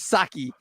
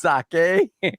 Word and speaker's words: sake: Yo, pronouncing sake as saki is diabolical. Shout out the GMBB pods with the $10 in the chat. Pronouncing sake as saki is diabolical. It's sake shaking my head.